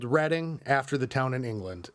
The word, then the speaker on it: Reading: We're called Reading, after the town in England. And thank God I asked my stepdad today, who's English, because I would have said reading. But it's Reading, and I knew that.